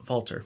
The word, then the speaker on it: Walter: man by the way his name is spelled walter but it's pronounced valter because he's austrian but yes there's this